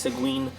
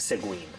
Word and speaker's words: Seguine: How do I know it's pronounced Seguine?